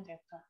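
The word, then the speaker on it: theta: kalau sudut disimbolkan dengan lambang Teteh Teteh nanti bacanya Teta jadi sudut ini lambangnya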